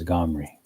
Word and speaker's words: Omri: Omri, pronounced as Gomri.